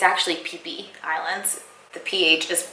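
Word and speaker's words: Phi Phi: tomorrow we're going on a tour of the fifi islands it's actually PPE Islands the pH just pronounced like a P so we're going on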